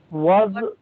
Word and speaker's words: was: So W has V sound and V Okay.